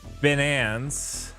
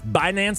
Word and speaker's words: Binance: them there oh is it not like Finance bance binance oh binance oh binance my finance that's